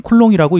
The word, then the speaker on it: 쿨롱: 전화 또는 전기량의 기호이고 단위는 쿨롱이라고 읽습니다 r은 두 전화